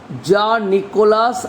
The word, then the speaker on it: Jean-Nicolas: The full name of the poet is Jean-Nicolas Arthur Rimbaud. Jean-Nicolas Arthur Rimbaud. Jean-Nicolas Arthur Rimbaud. This is the pronunciation in French.